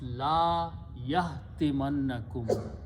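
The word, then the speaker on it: لَا يَحْطِمَنَّكُمْ: So when I combine these, it will be pronounced la yahtimannakum.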